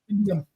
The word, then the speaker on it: Indium: I can't even pronounce it. Indium. That's Indium.